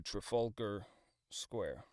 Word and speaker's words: Trafalgar: The stress is on the second syllable. Fall. F A WL. Trafalgar. Trafalgar. Okay. Yes, that sounds right. Uh, going on along the strand to Trafalgar Square.